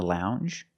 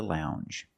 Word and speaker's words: lounge: And we have the j sound. The regular n plus the j sound. Lounge. Lounge.